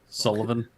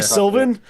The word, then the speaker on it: Sullivan: It's been Sullivan. Young Sullivan. Yeah. Yeah. Yeah, I mentioned him earlier. I had It's not Young Silvin.